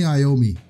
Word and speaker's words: Iommi: me to me Tony Iommi I think it's pronounced Tony Iommi bill was drums and